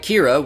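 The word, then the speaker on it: Qi'ra: Despite the strange spelling, it's pronounced like Kira, which was incidentally the original name for Rey from the Star Wars sequels.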